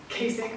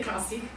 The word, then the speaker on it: Kasich: Donald Trump and John I want to pronounce it in a publ way joh Kasich I always want to say kasik um and then there's